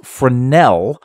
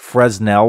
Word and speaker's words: Fresnel: this is called earth pronounced Fornell by the way it's not Fresnel which is what I pronounced it last time I was corrected